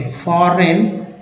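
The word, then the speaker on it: foreign: फॉरेन जी एन को ना बोलते हैं, फॉरेन इसमें जी साइलेंट कह सकते हैं।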